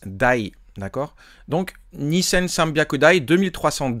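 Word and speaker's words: 台: Et bien là pour compter les machines et bien vous saurez que on utilise ce petit kanji là euh et il se prononce die.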